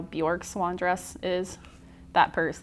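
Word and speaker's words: Björk: Bjork, like New York, but with a B, Bjork?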